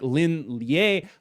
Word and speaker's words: Lin Lie: By the way, do want to note that I am aware it's pronounced like Lin Lie, but unfortunately that doesn't sound like V, so I can't even make the pun if I say Lie hand.